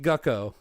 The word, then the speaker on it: Gecko: in the Second Battle gecko versus uh Yoshi which it is pronounced gucko just like an old